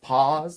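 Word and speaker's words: PAAS: with the easter bunny like pause like pause yeah which means i pronounced it correctly i had to go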